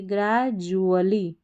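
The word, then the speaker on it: gradually: Knowledge ji आर ए को हम पढ़ेंगे ग्रेजुअली, इसको डुअली नहीं पढ़ना है, जुअली पढ़ना है, डी यू A double L वाई जुअली।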